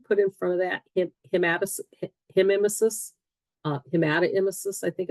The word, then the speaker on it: hematemesis: If you see H-E-M-E put in front of that, hematemesis, hematoemesis, I think it's pronounced hematoemesis, that's blood in the vomit.